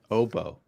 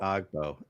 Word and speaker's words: Agbo: What about um Obo? It's not Agbo evidently. It's OBO.